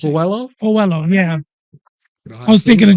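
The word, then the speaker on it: Coello: How you pronounce it? Coelho, yeah.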